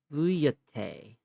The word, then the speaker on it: feuilleté: Uh, Apparently it's pronounced fuyete.